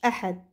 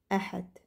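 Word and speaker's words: أحد: le dimanche dimanche dimanche Ahad c'est la prononciation ça donne ça Ahad dimanche Ahad Ahad alors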